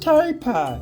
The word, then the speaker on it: tapir: Oh, it's pronounced taper.